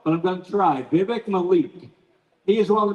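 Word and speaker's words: Vivek: give you a clue it is Vivic rhyming like cake so it's Vivic like in cake and Mal like C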